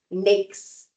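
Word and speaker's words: NAICS: That is the NAKES code. And quick little pro tip cuz people get this wrong all the time. NAKES code, N A I CS, NAKES code, is pronounced NAKES. It rhymes with snakes.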